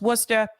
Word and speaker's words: Worcester: from the area it's spelled Worcester but it's pronounced Worcester Worcester is booming amid Boston's housing affordability crisis